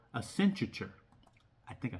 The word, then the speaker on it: Accenture: Oh yeah, I never did a video on that, but Nvidia did partner with this company called Accenture. I think I said it right. Accenture?